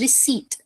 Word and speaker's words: receipt: Same goes with the second word receipt. The R E C E I P. In this particular word, the P word is silent. So the correct pronunciation is receipt.